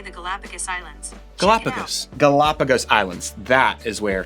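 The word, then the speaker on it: Galápagos: for how do you say the galapagos islands galapagos galapagos islands that is where charles darwin spent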